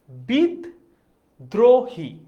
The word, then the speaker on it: বিদ্রোহী: দ যোগ রফলা এবার উচ্চারণটা দেখি উচ্চারণ হচ্ছে বিদ দ্রোহী তার মানে দেখতো এখানে এখানে দটা দুইবার উচ্চারণ হয়েছে। তার মানে উচ্চারণটা এমন দাঁড়িয়েছে। বিদ্রোহী লিখেছি এভাবে। কিন্তু এটার উচ্চারণটা কি দাঁড়াচ্ছে এটা একটু দেখি। বিদ্রোহীর উচ্চারণটা হয়েছে এরকম। বিদ দ্রোহ হি। এটার উচ্চারণ দাঁড়িয়েছে এইরকম। বিদ্রোহী। আচ্ছা।